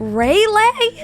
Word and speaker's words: Raleigh: Raleigh?